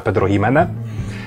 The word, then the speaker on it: Pedro Ximénez: ma swoją wersję PX, PX od nazwy, imienia i nazwiska Pedro Ximénez, które pisze się przez X, a czyta się po hiszpańsku, więc tego X'a się nie czyta.